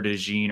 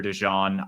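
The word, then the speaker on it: DeJean: interesting because we saw Cooper Dee or Cooper dejon I I don't know do you know what pronunciation he goes by like the French uh pronunciation or more American I I do think it's Dee um that's what I saw when I was doing his college stuff but I I couldn't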